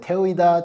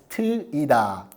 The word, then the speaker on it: Teuida: name of our app you have no idea how many people mispronounce our app they call it TOA TOA TOA but now you know it's TOA okay I feel like